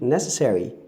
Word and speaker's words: necessary: If you say necessary, you've rendered the schwa.